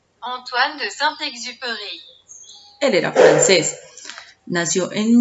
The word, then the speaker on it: Antoine de Saint-Exupéry: autor, Antoine de Saint-Exupéry, que, según Google, se pronuncia Antoine de Saint-Exupéry.